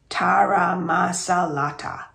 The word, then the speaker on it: taramasalata: I teach my friends how to pronounce it: taramasalata.